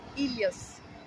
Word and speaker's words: Helios: three weeks and what is his name again Helios and it's in Greek we pronounce it Elias and what does it mean it means the